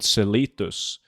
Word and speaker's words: Celitus: We have an area in Norway that's called Celitus. And World of Warcraft Celitus is based on the Norwegian Celitus. So it's pronounced Celitus.